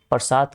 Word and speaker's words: प्रासाद: प्रसाद के अंदर का भाग आपका अंतःपुर हो जाएगा। ठीक है, ये प्रसाद नहीं, प्रासाद है, सॉरी मैंने गलत उच्चारण किया।